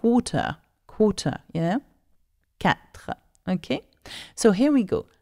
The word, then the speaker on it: quatre: So we don't say R, we say R. Can you say that? R. So when you come to say 4, it's 4. 4.